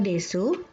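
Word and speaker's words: です: Untuk kata desu, arimasu, gozaimasu, huruf U tidak diucapkan. Jadi, desu berbunyi des, arimasu berbunyi arimas, gozaimasu berbunyi gozaimasu.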